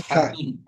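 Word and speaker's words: فتحة: ফাতহা। ফাতহাতুন। ফাতহা। ফাতহাতুন, ফাতহা। বলেন। ضمة. ফাতহা। ফাতহাতুন, ফাতহাতুন। ফাতহা কিন্তু পুরাটা উচ্চারণ করব আমরা শেখার জন্য।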